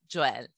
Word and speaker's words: Joelle: And I do love the French pronunciation of my name.